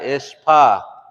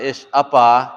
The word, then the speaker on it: ishpa: Yeah, ish pa. You drop that upsilon. So it's not ish apa, it's ishpa.